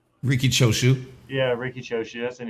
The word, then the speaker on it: Riki Choshu: Ricky Choju. Riki Choshu.